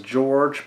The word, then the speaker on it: Jorge: uh hires zosa and his name is George but it's spelled like Jorge uh Mia so you